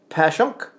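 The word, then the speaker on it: Passyunk: Pashyunk is pronounced Pashunk.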